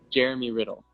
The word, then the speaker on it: Jeremy Riddle: Jeremy Riddle.